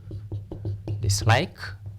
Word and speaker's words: dislike: stress the a fixes do not stress the prefix or the suffix for example a on such as dislike mistrust this word dislike the stem word is like car is